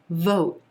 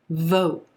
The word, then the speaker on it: vote: six vote vote now here you want to make sure that prominent sound is the o as in rose vowel sound the tendency a lot of times is to pronounce this sound too short so it's going to sound like you want to round the lips out and give this sound extra length extra stretch oh vote vote